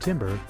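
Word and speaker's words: timbre: eels or d a pattern of eels and Timber is spelled t i m b r e as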